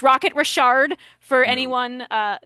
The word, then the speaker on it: Richard: And that explains why you were able to pronounce his name correctly. Nothing nothing gets me more than uh someone saying rocket Richard. It's rocket Rashard for anyone uh not in the no.